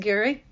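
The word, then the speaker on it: Garry: articles so Gary g r r y but pronounced Gary does the heavy lifting and I just get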